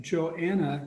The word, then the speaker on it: Johanna: So then we have Johanna, the H is silent silver.